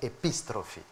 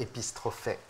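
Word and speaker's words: ἐπιστροφή: Ça se prononce en grec moderne épistrophie. Nous on disait épistrophée.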